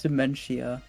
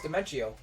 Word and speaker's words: Dimentio: Wait, who's Dementia? No, it's Dimentio. Oh. I thought you were talking about, like, actual dementia. Oh, I always said his name, like, Dementio.